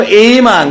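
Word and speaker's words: among: এমং। আচ্ছা, উচ্চারণ এইমাং।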